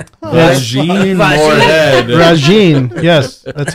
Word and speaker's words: Regine: Did you say Vagine? Regine Moorhead. Regine. Yes. That's how it's spelled.